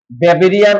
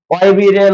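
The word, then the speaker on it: Weberian: WEBER, ওয়েবেরিয়ান ossicle. কিন্তু আসলে বাইরের দেশে ডাব্লিউ কে ভ উচ্চারণ করা হয়, মানে যদি একটা যাইতেছে কি ওয়েবেরিয়ান, তাই না?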